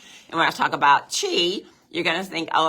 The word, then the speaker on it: Qi: that we drink into Chi and that is spelled Qi don't ask me why you call it Chi but that's what